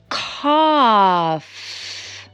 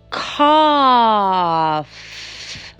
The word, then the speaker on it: cough: Cough. La C suena con mucho aire. K. Y la G y la H suenan como una F. Cough. Cough.